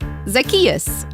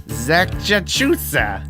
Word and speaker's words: Zacchaeus: that uh like this zacchaeus zack chachusa what no it's like zach just say it after me zacchaeus zackarecka dingdong all right now you're